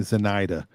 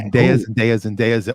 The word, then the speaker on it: Zendaya: I'm trying to understand how you can pronounce Adrian Zmed so well, but you can't get Zendaya right. He's Because old. When I worked at Felix Chevrolet, there was a woman there named Zenaida, and that just stuck in my head. I wasn't All mispronouncing her name; I was replacing her name. Okay. Zendaya.